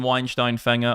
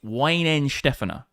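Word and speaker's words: Weihenstephaner: Actually, it's not even Weinstein Fanger. I'm not saying it correctly. In the chat for Lucy as well. Bitcoin at resistance. It's It's Ween Stefaner.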